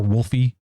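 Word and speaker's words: Wolfe: or Wolfie as most people call him. I feel like the E is silent, but everyone just says Wolfie.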